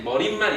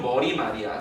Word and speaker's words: 머리말: 머릿말 이렇게 발음해야 될 것 같잖아. 그치? 근데 표준 발음은 머리말이야. 그리고 어때? 사이시옷을 적지 않아.